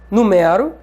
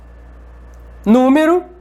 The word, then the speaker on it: número: Número, que é diferente de numero.